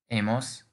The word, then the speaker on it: hemos: In Spanish, this verb conjugates as has, hemos, habéis, han. So because the H is silent, the future form of amar becomes amaré, amarás, amará, amaremos, amareis, amarán.